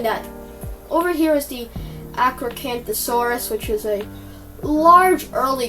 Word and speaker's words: Acrocanthosaurus: But this is the Acrocanthosaurus. It's the Acrocanthosaurus. I'm sorry, I butchered those first 2 attempts.